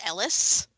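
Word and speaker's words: Heris: spelled Eris with a silent H, but it's pronounced Ellis.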